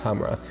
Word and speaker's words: Khamrah: for myself this is latava's Hamra okay or camera but I believe it's pronounced Hamra a lot of these